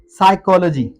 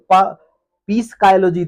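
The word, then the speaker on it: psychology: या टी से पहले अगर पी आए तो वो साइलेंट हो जाता है। वर्ड है हमारे पास साइकोलॉजी। वर्ड है साइकोलॉजी। अब इसे पीस स्काइयोलॉजी तो नहीं पढ़ेंगे। साइकोलॉजी या कुछ भी वो गलत हो जाएगा ना?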